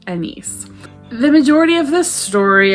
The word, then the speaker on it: Agnes: is Anne Hathaway, but this book calls Annice. Spelled like Agnes, and I don't think I can ever see the name Agnes again and not think of Annice.